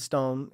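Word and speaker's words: STOWN: Yeah, so it's Squints Squints times Stone. Stone. Wait, that's Stone how you say it, Stone? Stone, yeah. Okay. But it's spelled S-T-O-W-N.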